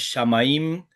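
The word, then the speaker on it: שמים: Este es otro de los moldes que adelanta el acento cuando las últimas tres letras tengo este patrónim, como shamaim que es esta palabra, como maim, como baite. Adelante al acento. Esta palabra no es shamaim, cielo. La palabra agua no es maim, es maim. La palabra casa no es bait, es bait.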